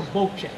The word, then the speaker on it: bocce: Bo that is not aachi that is a Bo Che because in Italian the C is C pronounce cck Bachi CI CH so um we